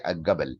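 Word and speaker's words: الجبل: And jim, they pronounce it ga. Egyptian did not say al-jabal, they say al-gabal, al-gabal, al-gabal, al-gabal.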